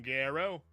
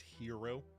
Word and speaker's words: Garrow: You're late, Captain Garrow. Sorry, it's pronounced hero.